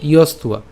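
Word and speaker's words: যস্ত্বা: হচ্ছে আমাদের অন্তস্থ ব, আর আমরা জানি যে অন্তস্থ ব থাকলে তার উচ্চারণ কার মতো হবে? উয়ের মতো হবে।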